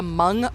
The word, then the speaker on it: Hmong: to go to the Hmong market. It's spelled Humong, but it's pronounced Hmong. It's in St. Paul. Just Google Hmong. So it's spelled Hum. So it's not Hmong, it's just Hmong.